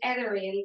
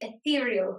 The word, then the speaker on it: ethereal: i pronounce this word i pronounce it everything that's how we say it in the west of ireland but it's apparently ethereal so ethereal polish say